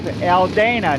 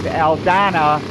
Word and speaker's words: Aldana: I believe that is Dave Alana. Now he pronounces his name Dave Aldana.